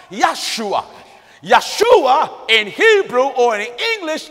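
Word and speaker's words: ישוע: with a J but there are no J's in the Hebrew alphabet so the name Joshua in Hebrew is correctly pronounced yua Yeshua in Hebrew or in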